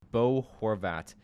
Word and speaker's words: Bo Horvat: at that great player I'm going boat Bo Horvat number two get your pronunciation right there buddy but uh yeah I